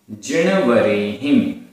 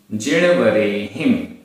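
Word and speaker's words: जिणवरेहिं: दंसन दंसन मूलो दंसन मूलो धम्मो धम्मो उव इट्ठो आधा टा ठा ओ की मात्रा उव इट्ठो जिणवरेहिम जिणवरेहिम हा में छोटी की मात्रा और बिंदी जिणवरेहिम सिस्साणम सिस्साणम तम तम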